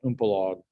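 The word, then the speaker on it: Umpolung: The interesting thing about this process is that the Germans call it Umpelag, or some pronunciation close to that.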